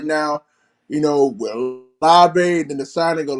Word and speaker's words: Olave: Yeah, especially the one, especially the one for Chris Olave, if I'm pronouncing the name right. Yeah, that's right. You're right, Chris Olave.